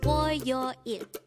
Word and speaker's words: 월요일: Again, it's 월요일. This is pronounced as a three-syllable word. The first syllable is 월, second syllable is 요, and the third syllable is 일.